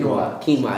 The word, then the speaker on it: quinoa: your local uh food store how do you pronounce that Quin quinoa yeah he always makes fun of me I